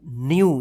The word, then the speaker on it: new: NEW, न्यू, जिसे happy न्यू year बोलते हैं ना, न्यू।